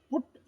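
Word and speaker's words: put: ಪದದಲ್ಲಿ ಯು ಮಧ್ಯದಲ್ಲಿ ಕಂಡುಬರುತ್ತದೆ ಆದರೆ ಮಧ್ಯದಲ್ಲಿ ಯು ಎಂಬುದು ಎರಡು ಪದಗಳಲ್ಲಿ ಸಮಾನವಾಗಿದ್ದರೂ ಕೂಡ ಅಲ್ಲಿ ಪುಟ್ ಎಂಬ ಉಕಾರ ಉಚ್ಚಾರಣೆಯನ್ನು ಮಾಡುತ್ತೇವೆ ಸಿ ಯು ಟಿ ಎಂಬ ಪದದಲ್ಲಿ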